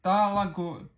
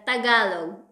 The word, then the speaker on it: тагалог: Во-первых, я хочу тебя спросить, филиппины и испанский, есть филиппинский язык или талаго, или как правильно произносится, прости. Вот очень смешно. Не талаго, вот тагалог.